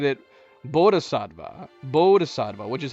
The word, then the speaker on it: Bodhisattva: one, and I even looked up, the correct, pronunciations. Although that was a bit confusing, because his name is what? Bodhisattva, and Bodhisattva ends up being a key character in Chapter 2.